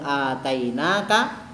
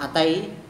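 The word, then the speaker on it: آتَيْنَاكَ: Wa qad atainaka lan teman-teman maringi sapa ingsun Gusti Allah harakate ngadeg dawa jangan atai tapi atainaka. Kalau bacanya cepat artinya mendatangi, kalau atainaka pakai panjang memberi, beda ya.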